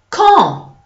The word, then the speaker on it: quand: Okay, so in French it's qui, quand, quartier, question, and not question. Okay, so there's no w inside. It's just a k, clear, clean, crisp K sound.